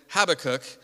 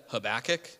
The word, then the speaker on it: Habakkuk: I've always said Habakkuk, and other people say Habakkuk, and I asked the internet, and the internet told me that it mostly is pronounced Habakkuk, and I'm really going to try to do that this morning, but I'm probably just going to say Habakkuk, because that's what I've always said, probably because that's what